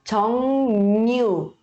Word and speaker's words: 정류장: A gente vai pronunciar com som de N, tá? N de navio. E aí fica 정류장, 정류장, 정류장, 정류장, 정류장, 정류장, 버스 정류장.